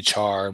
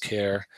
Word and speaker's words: char: char I usually say char but I think it's pronounced care as in character a boolean right or